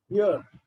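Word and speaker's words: heir: एयर, एच को थोड़ा silent रखना रहता है, एयर्स, ठीक है जी?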